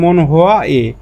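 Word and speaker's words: 문화의: তাহলে এর অর্থটা হবে সংস্কৃতির, সংস্কৃতি থেকে সংস্কৃতির, আর উচ্চারণ হবে মনহোয়া এ। এই যে আ থাকলে আবার এ উইয়ের উচ্চারণ এ হয়, আর এর বাংলা অর্থ র বা এর।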